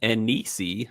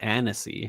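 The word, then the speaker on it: anise: it had a sweet an ani or Anese however you want to pronounce it taste and smell almost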